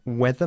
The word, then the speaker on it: whether: not all right okay whether is spelled w e t h e r but it's pronounced exactly the same as the weather mov in okay let's have a go then depend it depends whether my sister comes or